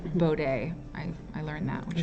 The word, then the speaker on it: Bode: bode it's actually called it's actually pronounced bow day i i learned that